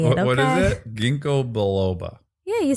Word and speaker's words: Ginkgo biloba: You pronounced it Ginkgo Balboa. Great. Ginkgo biloba.